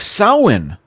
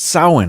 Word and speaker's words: Samhain: ancient celtic festival of samhain have you heard of sauhan i actually i've seen the word it it's spelled like samhain but it's pronounced sahwan i guess anyway that was celebrated